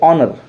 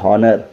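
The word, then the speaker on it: honour: Next word देखिए ऑनर, क्या पढ़ते हैं, ऑनर, एच ओ एन ओ यू आर, ऑनर, ना कि हॉनर।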